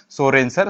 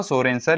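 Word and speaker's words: Sørensen: सोरेनसर, spelling पे मत जाओ, सोरेनसर इट इज the name of scientist.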